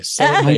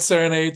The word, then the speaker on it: Serenade: our first session on Serenade was just about, and you're still not pronouncing it the right way. Serenade. I know. It's good, just, you know. You gotta learn. Balanchine said Serenade, so can you.